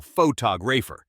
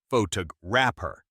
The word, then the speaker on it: photographer: We stress the second syllable photoer, not photo rapper.